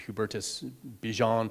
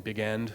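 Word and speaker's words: Hubertus Bigend: that there's this character who I already mentioned Hubertus beant would be the correct pronunciation but everyone calls him big end because that's how it's spelled um and generally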